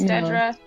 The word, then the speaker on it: Dedra: been happier that her name uh is not pronounced like mine uh originally I was like oh man it should have been Deidre I know it shouldn't have no it's Dedra that's that's her name I'm Nidra this is